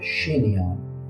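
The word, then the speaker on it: chignon: کلمه شین نیان میبینی اینجا حرف جی تلفظ نمیشه شینیون که شینیون تو فارسی هم هست این مدلای مور میگن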